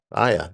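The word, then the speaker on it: AIA: Aya, A I A. So I just pronounced it Aya and I said, "Every time I talk to you, I'm going to call you Aya."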